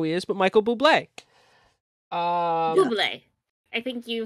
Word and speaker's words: Bublé: Bublé. I think you spelled his name wrong.